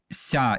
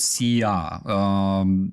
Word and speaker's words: ся: It's like "ся", it's not "sia".